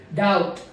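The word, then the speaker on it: doubt: में भी साइलेंट है डी यू बीटी डाउट डाउट डाउट यहां पर भी बस साइलेंट है इसी तरह से सटल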